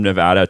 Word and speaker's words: Nevada: okay okay okay well how do you say the state's name correctly i think we've gotten that far yes nevada and kudos for doing that so i don't have to